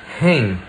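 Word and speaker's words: हैं: just say he and if you want to make it plural you just pronounce it with a nasal vowel hang pay attention to the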